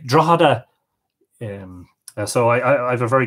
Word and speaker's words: Drogheda: Paul Garron says, Drogheda GH equals silent G like Garron.